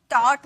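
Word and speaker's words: taught: एच हमेशा silent होता है इसमें जी एच साइलेंट मैंने अभी बताया था ना जैसे कि टॉट मैंने बताया टॉट कॉट इसमें बताया था ना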